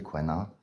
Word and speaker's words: Sequana: W A n a pour la phonétique c'est Kanana euh du coup c'est kanwana ce qui est intéressant c'est que benah on